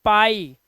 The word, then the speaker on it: pie: अब देखो, डी के बाद IE आया तो इसे पढ़ेंगे डाई, LIE लाई, झूठ बोलना, PIE पाई, TIE टाई, इस तरह से आप इसका उच्चारण, आई है वर्ड के लास्ट में लिखा